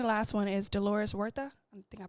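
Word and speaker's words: Huerta: Oh, and then the second, well, the second to last one is Dolores Wortha. I think I pronounced her name right. I just found out that the H is silent.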